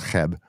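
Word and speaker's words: Cheb: Republic anyways we're in a town called It's pronounced Hebb and it's right on the border between Germany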